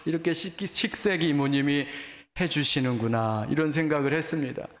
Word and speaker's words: 식세기: 발음을 잘 하셔야 돼요. 식세기.